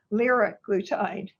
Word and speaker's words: liraglutide: Drugs are pronounced multiple ways, but I think it's easiest to do the start and then the glutide. So for example, I put down here semaglutide. You start with a semaglutide, liraglutide, dulaglutide. So that's just your hint for how to pronounce them.